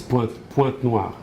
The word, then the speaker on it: Pointe-Noire: I don't know how do you say that in English, but it's Pointe-Noire.